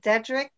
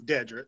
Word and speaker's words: Dedric: your first name incorrectly is it dedric technically yes it's dedric but I pronounce it dedri okay but um anyway